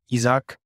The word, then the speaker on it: Ichak: That is Isaac basically, but yeah, Ichak. Yeah. Ichak.